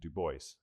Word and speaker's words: Du Bois: But he always insisted, as you can see here, this is his writing, on the pronunciation Du Bois.